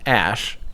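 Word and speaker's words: Æ: AE is actually in Elvish pronounced Ash, supposedly, and then A12 is just simply named after the predecessor to the SR-71.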